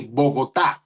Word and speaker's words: Bogotá: You have to put the accent on the A, Bogota, and then there you go.